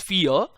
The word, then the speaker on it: Fe: The developers say it's Fear, but a lot of fans call it either Fey or Fee.